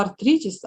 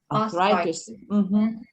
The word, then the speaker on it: arthritis: Читала артритис, а потрібно? Arthritis.